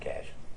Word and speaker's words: cache: I don't know how do you say that cash okay they didn't show you the messages before